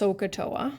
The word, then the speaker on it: SOHCAHTOA: this and it's pronounced sohcahtoa right so sine equals opposite over hypotenuse cosine equals adjacent over hypotenuse and tangent equals opposite over adjacent sounds kind of like a volcano to me um anyway so so